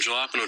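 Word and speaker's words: jalapeño: are you guys talking about jalapeno that's how you pronounce I don't want to pronounce this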